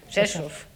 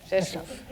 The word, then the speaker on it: Rzeszów: You spell it RZESZ with an O with an accent. Rzeszów. Okay. Rzeszów.